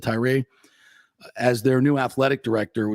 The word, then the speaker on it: Tyra: The FSU's Board of Trustees is set to name Vince Tyra, or Tyra, I believe you pronounce it Tyra, as their new athletic director.